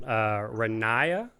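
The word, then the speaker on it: Ronaiah: it's going to take me a while to pronounce this one, Renaya is how he said it.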